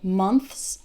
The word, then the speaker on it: months: prominent and in fact when speaking fast it might even sound like months like without the th months three months six